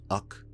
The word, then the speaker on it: Uch: Recently, I changed them to Ux, UCH pronounced Uck, or Uko, however. I like Uck.